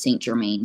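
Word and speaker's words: St. Germain: I think it is his last name is pronounced Saint Germain so Stevens St Germain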